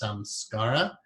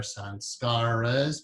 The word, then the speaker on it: sanskar: go back to, that's called a sanskar, or it could be pronounced samskara, or samskaras, or sanskaras, but the most proper Sanskrit pronunciation would be sanskar when you say the word alone, essentially in the singular.